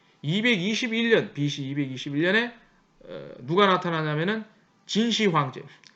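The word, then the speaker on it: 진시황제: 동양에는 그보다 한참 뒤에 BC 3세기 221년 BC 221년에 누가 나타나냐면은 진시 황제, 진시 황띠라고 이제 발음을 하죠.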